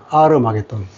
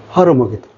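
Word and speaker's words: Armageddon: 아르마겟돈. 아르마겟돈이라고 해요. R은 뭐냐면, 이 앞에 H가. 이탈리아 말은 H를 발음 안 하잖아요. 그래서 발음하게 되면, 이게 원래는 하르였는데 H가 발음 안 하니까 R가 된 거지. 하르마겟돈.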